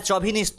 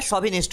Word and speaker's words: chauvinist: এটা চভিনিস্ট নয়, সভিনিস্ট হয়। আমরা মেল সভিনিস্ট বলি, CHAUVINIST, প্রোনাউন্সিয়েশন হবে সভিনিস্ট।